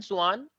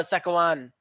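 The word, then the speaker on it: Schwann: तो इनका नाम वैसे तो स्लीडन एंड स्वान है प्रोनाउंसिएशन वाइज, लेकिन कुछ लोग क्योंकि स्पेलिंग याद करनी होती है तो कुछ लोग इनको बोलते हैं स्केलेटन एंड सकवान, लेकिन ऐसा है नहीं, स्लीडन एंड स्वान है ये, ठीक है।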